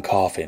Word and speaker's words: Coffey: "John Coffey, ma'am. Like to drink, only not spelled the same.